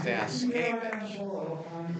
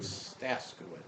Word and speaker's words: Staskowitz: I helped campaign for the late great Ron Staskowitz, and the name Staskowitz is actually from the old country pronounced Staskevich, but in America it's Staskowitz.